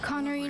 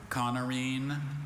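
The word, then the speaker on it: coniine: Bit of an obscure Connorine, are there any alternate pronunciations? I have 2. I have Connorine and Connorin.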